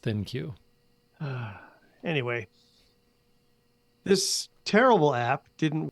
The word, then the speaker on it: ThinQ: the lg thinq app that would be think with a q so maybe i should pronounce it thank you i really don't know i think it is pronounced thin cue anyway this terrible app